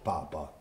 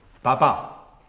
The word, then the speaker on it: Papà: Caro Papa, Natalì, mi è scritta la lettera Papa. Papà, con l'accento sull'A.